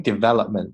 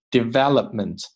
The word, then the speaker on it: development: gap 不是 gap。There is a gap in brain development 这个单词 development 这个 p 我们可以不发出这个音，但是口型一定要做到位，嘴唇要合住。development 这个 t 弱化 between kids